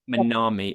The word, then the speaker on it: Manami: MANAMI, I think you pronounced it. MANAMI, or yeah.